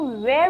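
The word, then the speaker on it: were: साथ and next is वर बहुत से स्टूडेंट्स इसको वेर प्रोनाउंस करते हैं दैट इ टोटली रंग इट इज वर वर का सेंस होता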